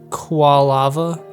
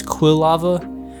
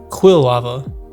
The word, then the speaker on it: Quilava: I've also been realizing I think I've been pronouncing kava wrong my entire life I think I always pronounced it as qual laava but it's Quil lava I don't know I remember I looked it up um like when I looked through the guide or whatever it was quill lava I don't know anyway